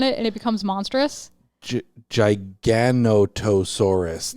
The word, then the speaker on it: Giganotosaurus: Giganotosaurus. Yeah. That seems like an extra syllable that didn't need to be in there.